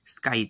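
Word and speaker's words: scythe: তাহলে সেটা লিখতে হবে south, sorry স্কাইথ, এস সি ওয়াই টি এইচ Y, south, স্কাইথ, এটার উচ্চারণ হবে স্কাইথ, বানানটা বলছি দন্ত সয়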